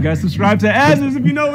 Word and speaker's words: Azzerz: this is my youtube channel your name is pronounced azusa's too right yeah all right guys subscribe to azures if you know it's good for you yeah